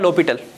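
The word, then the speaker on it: L'Hôpital: इसका वैसे तो प्रोनाउंसिएशन है ना, वो होता है लोपिटल, ठीक है, लोपिटल होता है डायरेक्टली, इसको लोपिटल फ्रेंच वर्ड है, इसका डायरेक्टली प्रोनाउंसिएशन होता है लोपिटल।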